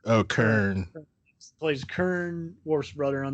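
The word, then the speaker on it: Kurn: Is it Nern or Garn? No. Kern.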